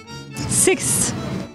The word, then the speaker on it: sixth: sixth sixth and here's how it should be pronounced six sixth sixth sixth sixth sixth if you want to